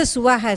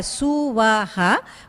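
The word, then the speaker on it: स्वाहा: We don't stress the Swaha, Suvaha, but make it into one syllable.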